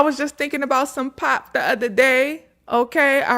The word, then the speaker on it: pap: It's pop. It's p a p. But I used to I was saying pap. And when I was there, they was like, "It's not pap, baby. Pop.